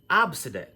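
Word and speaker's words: Abcde: Now, when you look at this, some people would want to say, oh, that's A, B, C, D, E. But, believe it or not, this name is pronounced Abside. Abside.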